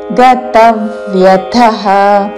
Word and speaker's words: గతవ్యథః: ఉదాసీనో ఉదాసీనో గతవ్యథః తా మీద ఆఘాత చివరిలో మహాప్రాణాక్షము థ. గతవ్యథః గతవ్యథః కాదు, అల్ప ప్రాణతో గతవ్యథః అని కూడా కాదు. గతవ్యథః ఉదాసీనో గతవ్యథః సర్వారంభ రా తర్వాత మాకి మహాప్రాణాక్షము భావత్తు.